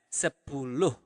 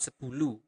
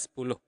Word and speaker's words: sepuluh: Also, for 10, you pronounce the H at the end of the word. So you really pronounce it as sepuluh. Okay? Not sepuluh, but sepuluh.